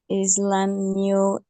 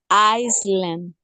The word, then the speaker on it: island: I, Iceland. island, sin la S.